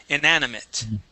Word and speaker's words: inanimate: Now that last word, remember the E-A-T at the end, instead of being ate, will be it, inanimate.